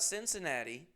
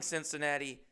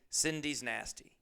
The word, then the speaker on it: Cincinnati: I'm calling Cincinnati Cindy's nasty through the whole video.